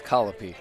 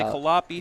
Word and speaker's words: Colopy: I've heard some people say Colopy, some people say Colopi. Yeah, so I think it's Colopy.